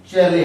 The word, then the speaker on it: Chalet: ठीक है, अगला क्वेश्चन हम पढ़ते हैं चेले हाउस। ठीक है, चेले हाउस, सेले हाउस, अलग अलग प्रोनाउंसिएशन है। ठीक है, CHALET या सेले हाउस, बहुत सारा इसका प्रोनाउंसिएशन है, तो आप ये याद रखिएगा।